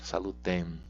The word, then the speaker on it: salutem: essa luta é importante a pronúncia do é metade a gente não pode nasalar salutem nós podemos falar tá